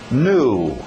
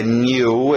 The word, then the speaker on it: new: Se você já aprendeu a pronúncia new, eu vou permitir. Tem muitas pessoas nos Estados Unidos que falam new, inclusive quem é de Nova York, em New York, então a gente deixa o new ou new.